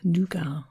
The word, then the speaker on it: nougat: So that will be one, and alongside it there'll be various fruits and dried fruits, and perhaps some nougat or nugget if you pronounce it like that.